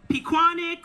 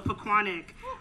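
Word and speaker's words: Pequannock: good afternoon paquanick and thank you to the residents who taught me how to say the name correctly because i thought it was piquanic or you know but it's we want to take pride in our name so pacquanic um congratulations to you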